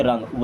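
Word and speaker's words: wrong: बनो यू आर रंग अब डब्लू यहां पर साइलेंट होगा इसे पढ़ेंगे रंग रंग नहीं रंग यू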